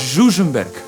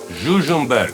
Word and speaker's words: Žužemberk: Oh, let's pronounce that again. What? Žužemberk. Žužemberk.